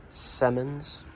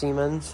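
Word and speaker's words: Siemens: panel I don't need more this is a semmons uh solar panel I know it's pronounced semens it's just because it's a meme I found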